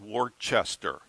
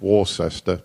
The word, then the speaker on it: Worcester: becomes the bishop of Worcester now I know that's spelled wartchester but you it's their language they can pronounce it however they want is correct is it Not.